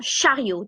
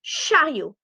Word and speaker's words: chariot: Un chariot. Do not pronounce the T. Un panier. Un caddie. Un chariot.